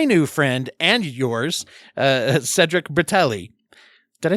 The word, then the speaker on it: Cedric Bertelli: talk to my new friend and yours uh Cedric bratelli did I say your name right I should